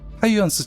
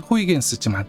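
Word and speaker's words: Huygens: 하이언스 착륙선. 영어로는 호이겐스지만 착륙선을 개발한 유럽 발음을 따서 하이언스라고 부르겠습니다.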